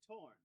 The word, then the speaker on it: Thorne: I'm talking about Professor Thorne. You mean Professor Torn? Who? That's how you pronounce his name. The H and the E are silent.